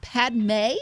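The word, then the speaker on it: Padmé: Anakin Skywalker is trying to flirt with Padme. Is that how you say it? Yes, it is. Padme.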